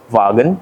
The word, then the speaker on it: Wagen: the all new Volkswagen yes that is how you pronounce it folks vagen German tare this is